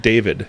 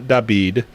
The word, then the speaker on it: David: obama yes yep because my name's david it's not dabid i don't care how